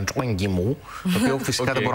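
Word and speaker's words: 张艺谋: Με είχαν διορθώσει και στο φεστιβάλ του Μακάου, μου είπαν ότι δεν είναι Ζαν Γιμού όπως τον λέμε περισσότερο, αλλά Τσουέν Γιμού, το οποίο φυσικά δεν μπορώ να το προφέρω σωστά.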